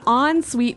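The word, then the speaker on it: en suite: UI t e so even though it's e n we pronounce it like an o n yep on suet so an on Suite bathroom is a bathroom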